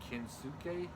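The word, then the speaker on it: Kensuke: love competition with uh ken suke that's how you pronounce his name archen yeah like it's like inosuke except with the k right and he's in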